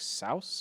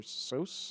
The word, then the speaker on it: Seuss: Also, his last name isn't pronounced Seuss. It's like Souse or Seuss.